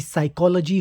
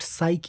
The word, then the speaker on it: psych: भी English word हो उसमें पी साइलेंट क्यों होता है पी लेटर साइलेंट क्यों होता है और इस सवाल का जवाब हमें मिलता है साइक के ग्रीक रूट से साइक एक ग्रीक लैंग्वेज